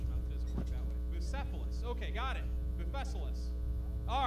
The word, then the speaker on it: Bucephalus: Bucephalus.